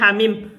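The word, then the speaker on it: حم: Sekarang hamim, gimana bacanya hamim? Hamim. Tah, ha-nya itu 2 harokat.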